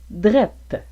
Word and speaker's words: drette: juste par le mot drette. Le mot drette est la façon québécoise de prononcer droite, mais il est utilisé comme préposition de lieu pour remplacer le juste.